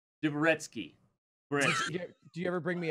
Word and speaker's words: Dvoretsky: You know, Dvorsky? Dvoretsky. Do you ever bring me up? Like, do you ever, like... Don't mispronounce...